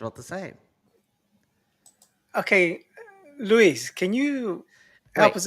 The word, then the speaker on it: Luis: It's an American version of Luis. Is Lewis.